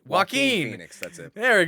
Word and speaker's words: Joaquin: He played Joaquin Joaquin Joaquin. Phoenix. That's it. There we go. I was like, I know it doesn't have I know the J is silent.